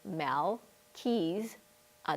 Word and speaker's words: Melchizedek: Mel, like Mel Gibson, keys, like your car keys, a deck, like a deck of cards. So it's Mel, keys, a deck.